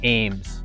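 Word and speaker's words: AEMS: have seen this optic it's spelled a-e-m-s but it's pronounced Ames now the Ames is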